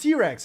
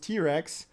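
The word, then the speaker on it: Trex: pronounced um how's it i mean pronounced t-rex oh yeah okay i'm blind obviously as usual i'm blind thank you very much dorek for pointing this out so it pronounced t-rex there you go uh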